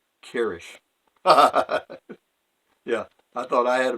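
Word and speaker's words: Kryzch: name was spelled k r y z CH pronounced Kish yeah I thought I had a bad one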